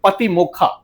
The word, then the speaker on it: पातिमोक्ख: प्रतिमोक्ष शब्द का जो पाली जो उसका उच्चारण है वो है पतिमोक्खा।